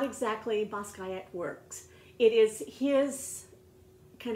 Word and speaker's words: Basquiat: The T, his father was Haitian and his mother was Puerto Rican, and so the last name is pronounced in the French way, so it's just like without the T, Basquiat, Jean Michel.